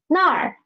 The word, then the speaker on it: 那儿: And nar, nar means there. There, it means a place there. Okay, read up me. Nar, nar. It has a retroflex final, so please roll up your tongue, okay?